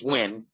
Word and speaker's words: Nguyen: No, not Nugent, it's Nguyen. Yeah, when you say it correctly, it means when you say it correctly, it's not Nugent, right?